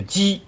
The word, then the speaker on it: 七: 居七年，冯轩无所言。又过了一年，这里的七呢也可以读成是鸡。